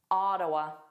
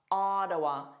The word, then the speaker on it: Ottawa: Ottawa. Ah, a lot lazier, a lot more unstressed. The first sound is a A, not an O sound like the spelling A.